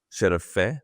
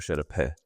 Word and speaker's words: şerefe: Şerefe or şerepe? Şerefe. Yeah. Şerefe. Okay, şerefe.